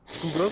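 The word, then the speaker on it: Tukhugov: La, Ouais, la là, prononciation, elle va faire mal. Zubeira. Tukukov. Tukukov, c'est ça.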